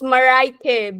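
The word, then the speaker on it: Mareike: It's Maraike, but spells like Mereike, but Like pronounced like Maraike.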